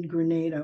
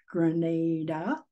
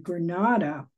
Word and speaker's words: Grenada: of medical school in Grenada which by the way if you don't want to sound like a Rube is pronounced Grenada and Granada is in Spain my husband's practice in